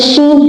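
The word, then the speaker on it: ش: Seen without any dot without any dot and sheen having three dots above it. Okay. Now the sound of sheen is shen in English alphabet sh.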